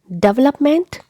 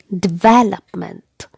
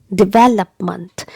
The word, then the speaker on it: development: together development development and the stress is given on the second syllable here on the sound okay